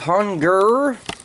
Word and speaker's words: Hun-Gurr: Okay, there we have hun-gurr. And yes, I did say "gurr" because I have heard people pronounce it hun-gurr, but it's obviously spelled G-U-R-R, which is "gurr."